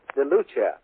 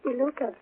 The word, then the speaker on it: DeLuca: Is that pronounced right? DeLuca. DeLuca. That's right. I thought two C's were... No, it's C.